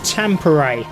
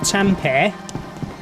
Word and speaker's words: Tampere: It's pronounced Tampere, not Tampere.